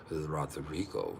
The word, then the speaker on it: Rodrigo: I said, Rodrigo. You gotta roll your R's, baby, or you're not saying it right.